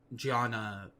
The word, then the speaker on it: jhana: So knowing how what you're talking about is spelled is important for research purposes. So jhana has 2 different spellings.